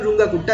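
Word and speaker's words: Runge–Kutta: তাছাড়া ধরো Simpson's rules, Newton Raphson method, যেটা খুব রুঙ্গাকুট্টা মেথড, এটা অ্যাকচুয়াল প্রোনাউন্সিয়েশন রুঙ্গাকুট্টা, লেখা হয় রেঞ্জ কুট্টা।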